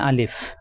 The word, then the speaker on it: আলিফ: আলিফ দ্রুত উচ্চারণ করতে হবে, মুখের খালি জায়গা থেকে উচ্চারণ।